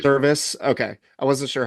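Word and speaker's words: Servais: Mariners coach that got how do you pronounce his service I believe service okay I wasn't sure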